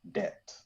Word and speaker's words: Det: it's called Just Say Det. Just say debt or bet? Det. D for Daniel.